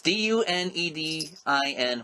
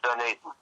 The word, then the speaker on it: Dunedin: spell it, Eric, so I don't butcher the pronunciation. It's Dunedin, Florida. It's Dunedin.